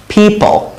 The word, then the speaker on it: people: তো people, people, people, পল না কিন্তু ফল ফল, এই যে এই প্রোনাউন্সিয়েশন গুলো বাংলায় নেই কিন্তু ইংলিশে আছে, এই জন্য আমাদের উচ্চারণ করতে একটু কষ্ট হয়। people, people মানে মানুষজন, একের